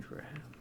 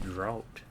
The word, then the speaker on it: draught: Sleeping draft. Oh, is that how you say it? Holy crap, I've been saying that wrong for ages. I pronounced it drought or draught.